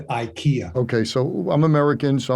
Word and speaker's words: Ikea: store well uh uh this is the way the suite pronounce it is Ikea as opposed to Ikea okay so I'm American